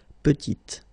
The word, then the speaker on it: petite: Final T is not pronounced, and then when you add this E at the end, you get the sound T, petite.